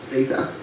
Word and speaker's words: zeta: And it's actually theta. It's actually pronounced theta.